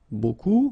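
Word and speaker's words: beaucoup: If you want to use buku means a lot of it look it looks a bit strange like that. Remember you don't pronounce the final p.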